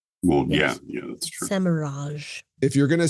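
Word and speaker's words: Semirhage: they went with the Semirag pronunciation, which I'm not partial to, No. but whatever. You put an E after a G, it's a soft G. Well, Yes. yeah, that's true. Semiraj.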